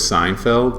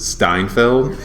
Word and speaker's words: Seinfeld: Like with my dad, my dad's favorite show is Seinfeld, but he pronounces it Steinfeld. And he will, to this day, he puts an extra T.